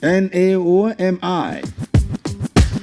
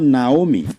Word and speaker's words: Naomi: Last Thursday, I brought up a name, Naomi, and I said it's not Naomi, it is Naomi.